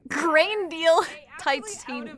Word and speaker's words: Grendel: It's pronounced Grain Deal Titania?